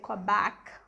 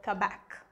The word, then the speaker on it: Quebec: pronounced in two ways either you can say quebec or quebec go back or come back and another interesting name